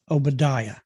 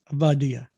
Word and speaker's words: Obadiah: going to recognize avadya most people that don't know hebrew pronounce it obadiah but uh obadiah is correctly pronounced vadiyah servant of god prayer